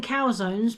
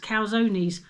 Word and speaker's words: calzones: you know the calzonees I was saying cow zones but our said it's meant to be pronounced calzones I never knew I've never